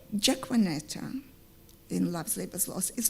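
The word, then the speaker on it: Jaquenetta: You will get a half French, half Finnish Jaquanetta, pronounced Jaquanetta if you had to pronounce it in English.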